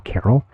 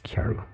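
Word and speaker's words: Karyl: uh chiaro summer kiaru the us is spelt wrong k-a-r-y-l carol i've been told it's kyaru so the dragon's tiers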